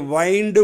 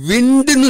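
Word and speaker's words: wind: ground தூள் செய்தல் அடுத்தது வைண்ட் வவுண்ட் வவுண்ட் ஒய் வை ஒய் டபள்யூ ஐ என் டி வைண்ட் இந்த வார்த்தை பெயர்ச்சொல்லா வரும்போது அதனுடைய உச்சரிப்பு விண்டுன்னு சொல்லணும் விண்டு ஆனா இங்க வெர்பா வர்றதுனால எப்படி உச்சரிக்கணும் வைண்ட் அது பாஸ்ட் டென்ஸ் ஆகும்போது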